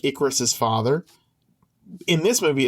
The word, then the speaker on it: Icarus: my gosh, I don't want to say his name wrong. Ithacus. Is it Ithacus? Is it the one who flew too close to the sun? Icarus.